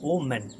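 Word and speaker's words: omen: third होता है आपका ओ मैन ओ मैन नॉट वुमेन मतलब जब हम स्पेल कर रहे हो प्रोनाउंस कर रहे हो उस चीज को तो होता है ओमेन बट यहां पर क्या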